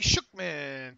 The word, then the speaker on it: Shookman: All right, from Shookman. Thanks for reading my last email Friday. By the way, Dave, my last name is phonetically pronounced Shookman, and Krakra is pronounced cray-cray and short for crazy.